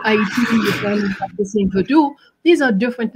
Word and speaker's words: Vodou: How did you pronounce it? Vodou.